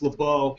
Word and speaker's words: LeBeau: It's LeBeau. It's a French name. You don't pronounce the C.